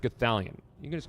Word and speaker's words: Gothalion: it wasn't great uh my name is pronounced gallion you can just call